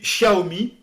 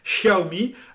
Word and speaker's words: Xiaomi: Et puis Xiaomi, qui s'écrit avec un X, mais qui se prononce Sh. Xiaomi, c'est le Apple chinois.